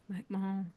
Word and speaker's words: McMahon: Cotie, Mac, I don't want to mispronounce her last name. McMahon.